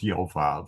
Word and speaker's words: Yoav: sure why it doesn't yoav is the emphasized syllable so I would say yav would be good but his name was yoav so there we are